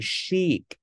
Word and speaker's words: chic: Âm sờ chẳng hạn như là trong chữ chic, có nghĩa là sang trọng.